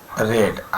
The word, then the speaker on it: read: हम, we have रेड, READ। रीड का चूँकि तीनों फॉर्म में स्पेलिंग एक ही होती है, लेकिन फर्स्ट फॉर्म को रीड पढ़ते हैं, सेकेंड को रेड और थर्ड को भी रेड पढ़ते हैं।